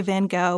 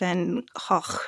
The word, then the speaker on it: Van Gogh: can tell by now we're going to say Van Gogh which is the standard American pronunciation I think the Brits have a different way they say it y'all don't want to hear us try to save and hawk or however it goes I don't think